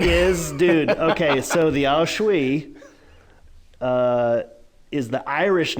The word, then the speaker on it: sith: spell it Sith so s-i-t-h yeah but it's not it's not pronounced Sith but it's spelled that way which I thought when